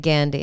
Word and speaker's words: Gandhi: pronounce it Gandhi, honey. Gandhi.